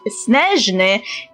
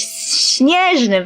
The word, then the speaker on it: Snezhnaya: country based on Russia, is actually pronounced Snezhny, which is similar to ours, Snezhny, very, very similar.